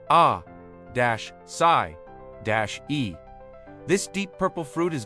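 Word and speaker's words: açaí: The asai berry, pronounced a d- sai- e.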